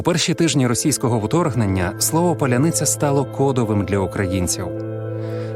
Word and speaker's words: Паляниця: тижні російського вторгнення слово Поляниця стало кодовим для українців через особливості української фонетики росіяни не можуть вимовити пом'якшені літери с та Л так стало простіше відрізнити